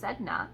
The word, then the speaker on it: Sedna: Sedna, pronounced Sedna, is the sea deity of the Inuit people.